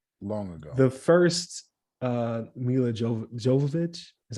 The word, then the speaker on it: Jovovich: ago long ago the first uh mil Jo Jovovich is how you say her last name yeah